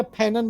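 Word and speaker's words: Fanon: तो ये इसकी आलोचना फैनो ने की, फैनो या फैनन बोल लीजिए, फ्रेंच उच्चारण फैनो है।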